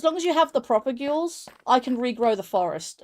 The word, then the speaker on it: propagule: Propagules. Propagules. There is no way I can pronounce that. Proper. Just say proper, and then ghoul.